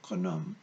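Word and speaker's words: Khnum: K-H-N-U-M is how it's spelled, Kaname.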